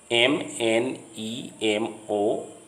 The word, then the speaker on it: mnemonic: MNEMONIC. The M in the beginning of this word is silent, so it is pronounced mnemonic.